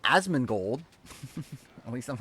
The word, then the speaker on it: Asmongold: I'm not Asmongold.